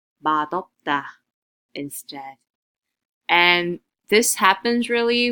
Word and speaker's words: 맛없다: So this d sound now gets shifted up and it's being pronounced as 맛없다, 맛없다 instead.